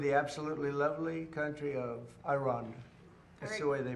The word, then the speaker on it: Iran: He's still saying it wrong with the I, the emphasis on the I. Um but, cuz it's Iran, uh just saying that, right?